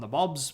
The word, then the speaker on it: Nabob: the regional areas called Nabobs being particularly powerful. That word is N-A-B-O-B. Nabob is how you pronounce it.